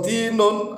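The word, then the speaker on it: دِين: yadinu kemudian menjadi mazdar kalau dalnya itu di fathah dainun dainun artinya hutang tapi kalau dalnya di kasrah dinun artinya adalah agama jadi walaupun th Dal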